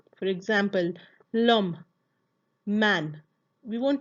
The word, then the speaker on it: l'homme: For example, l'homme, man. We won't pronounce it lahom. No, the H is silent.